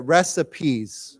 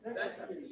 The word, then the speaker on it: recipes: course this word we we pronounce the E so why don't we say together recipes recipes recipes recip okay now